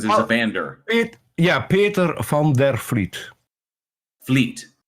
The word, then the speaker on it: van der Vliet: Peter van der Vliet. Fleet. So that V is like an F? Yes, a soft F.